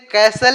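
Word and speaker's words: castle: है डू not build कैसल इन एयर डू not build यानी मत बनाओ बिल्ड मींस होता है बनाना यानी मत बनाओ कैसल इसको क कस्टल नहीं पढ़ेंगे कैसल पढ़ेंगे इसमें टी साइलेंट है डू नॉट बिल्ट यानी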